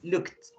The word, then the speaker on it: looked: In this moment, in this case, when the verb finished with in P, in K, in SH, in CH, in GH, in TH, SS, C, or X, so you have to pronunciate just with T.